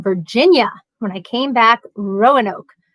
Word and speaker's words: Roanoke: when I came back Roanoke was Rono normally I'm trying to get rid of emphasises I see the emphasis is on the first syllable right I'm not even